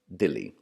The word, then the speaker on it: Delhi: Raja today means today Delhi is simply an alternate pronunciation of the name for the city Dilli and you should note